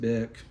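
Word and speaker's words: Bich: name was spelled Marcel B it was actually pronounced bck and he angleze his name angle sized as bick with the H dropped and pronounced as such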